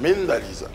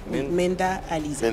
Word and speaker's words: Mynda Aleeza: l'état civil et mind Lisa d'accord ma c'est Menda Alisa Menda Alisa mend alors on la présente généralement comme la